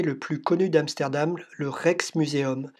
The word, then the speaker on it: Rijksmuseum: Et ce grand bâtiment un peu plus lumineux au fond, c'est le musée le plus connu d'Amsterdam, le Rijksmuseum. Ça s'écrit R-I-J-K-S pour dire Rex, faut suivre.